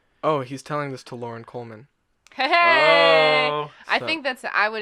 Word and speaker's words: Loren Coleman: it's spelled lor en sounds like Lauren to me right yeah it looks